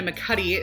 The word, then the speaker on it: McAtee: children shouldn't play with dead things by Martina mccu is how you say her name she actually